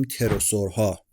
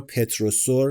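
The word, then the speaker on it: pterosaur: گاهی اوقات من می‌بینم به غلط اسم این‌ها رو پتروسور تلفظ می‌کنن. این تلفظش در واقع تروسوره. این پی اولش تو انگلیسی تلفظ نمیشه. آره پی تلفظ نمیشه.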